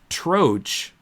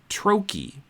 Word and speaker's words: troche: they instead of saying troch, they say trochi. Trochi. So if we spell it Troche, troch, but some Americans apparently pronounce it trochi. But British people say troche.